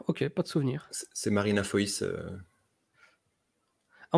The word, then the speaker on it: Foïs: C'est Marina Foïs. Ah, on dit pas Marina Foy? Non. Non, parce que je crois qu'il y a des trémas sur le i.